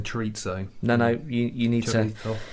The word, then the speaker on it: chorizo: Any Well, not in the chorizo? UK. Chorizo? A bit, yeah. Oh, I love it. A bit of paella, and plenty of sangria. I didn't want to sound like a commoner by saying chorizo.